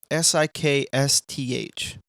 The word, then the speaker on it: sixth: Sixth. Because really, we just say sixth. Or sixth. Sixth grade. Sixth grade. Sixth grade. Sixth grade. Sixth grade. How do you say that? The pronunciation is SIKSTH.